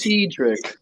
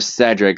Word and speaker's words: Cedric: will mention um what oh my God Cedric you said it wrong it's Cedric it's Cedric God why is it so hard for you to pronounce my name okayed yeah cuz Sophia cuses him Cedric instead of sedric so that kind of